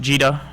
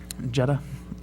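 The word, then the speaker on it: gEDA: uh and it's pronounced jeta or jeda yeah jeda mostly depending on which side of the pond you come from it sounds like right uh British people tend to say jeda uh here it is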